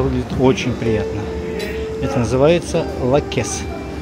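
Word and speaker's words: Лаккос: Пляж Лакес, все-таки ударение правильнее на первом слоге, для нас оказался настоящим открытием.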